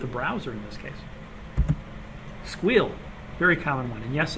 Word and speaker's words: SQL: when I told them SQL they're like no no squeal and I'm like why they said it's one syllable versus two so it's faster until you have to